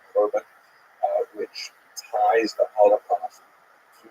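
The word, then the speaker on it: חורבן: They tend to use the Hebrew term for God, usually pronounced the Ashkenazi Yiddish pronunciation Korban, which ties the Holocaust to the great destructions of the temples in Jerusalem in ancient times.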